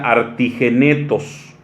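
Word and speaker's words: ἀρτιγέννητος: Y esta palabra recién nacido también viene de una palabra griega que se pronuncia artigenetos.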